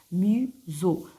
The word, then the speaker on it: museau: et le nez on appelle ça le Mau Muso e a à la fin se prononce e vous avez le dos vous avez